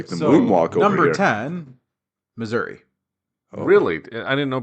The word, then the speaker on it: Missouri: you pronounce it Missouri or Missouri? Missouri. I actually pronounce it misery.